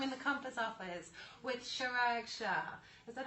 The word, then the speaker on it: Chirag Shah: I even have the Compass sign here because I'm in the Compass office with Chirag Shah. Is that how you pronounce your name, actually?